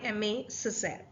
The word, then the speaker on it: Aimé Césaire: the poem The Woman and The Flame by Emma Cesar okay so that's how we pronounce the name of the poet so it's